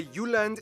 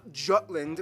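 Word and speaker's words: Jylland: Denmark is made of the you land not Jutland peninsula that connects to Germany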